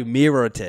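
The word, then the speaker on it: Mirotić: I thought it was No, it's Nikolai Mirotic.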